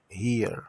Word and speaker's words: here: E aqui, here, o H com som de R, o E de I, o R de R, o E é mudo. Então, aqui, here.